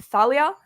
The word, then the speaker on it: Thalia: So I'm sorry to everyone who wants it to be Thalia. Sounds too close to my name, so it's Talia. Okay, Talia.